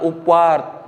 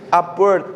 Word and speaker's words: upward: yuk ulangi upward comparison jangan up tapi upward Bu penting untuk